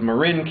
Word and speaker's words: Marin: it and then um it's Marin County not Marine County Marine County would be